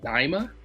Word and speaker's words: Daima: called I Dragon Ball I believe it's pronounced daima d a i m a Dragon Ball da starts